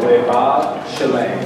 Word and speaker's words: Levav Shalem: Levav Shalem. You see the B's, but they're actually pronounced the V's. Okay, so Levav Shalem.